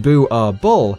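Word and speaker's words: Boerboel: prey these dogs are illegal in norway booable pronounced bu r bull is a dutch afrikaans word for farmer's dog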